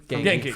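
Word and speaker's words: Ganke: If it, Ned is essentially how do you pronounce it? Genki. Genki, From yeah.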